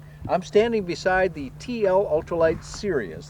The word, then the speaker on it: Sirius: I'm standing beside the TL-Ultralight Sirius, this is pronounced. And it may be serious in name, but it's a really fun little airplane.